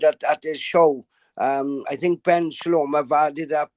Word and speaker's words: Ben Shalom: Ben, did I pronounce it right? Sorry, B-E-N, right? Ben Shalom.